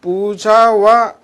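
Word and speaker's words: पूजा: 들어가도록 하겠습니다.에 거기 보면은 부자와 채식주의 나와 있습니다. 여러분 책에는 부자라 됐지만 원 발음은 인도 관 된 소리가 납니다. 부자.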